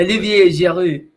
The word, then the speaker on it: Olivier Giroud: Olivier Giroud.